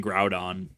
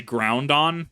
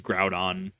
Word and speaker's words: Groudon: all these years I've I've been saying Groudon I used to say groundon because I somehow like put an N there but I I read it as Groudon how many people actually